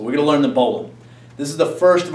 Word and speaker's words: bowline: line l i n e um but it's pronounced Bolan so we're going to learn the bowan this is the first of our knots to